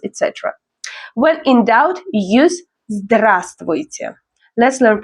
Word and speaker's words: здравствуйте: When in doubt, use здравствуйте. Let's learn pronunciation. Здравствуйте. This one looks long, but it's often shortened in speech. The first V is often silent.